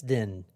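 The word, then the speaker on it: Dinh: say his name was Den Bowman Den Bowman d i n h now his real name is Thomas Den which is Thomas and then the word Den put together Thomas like one word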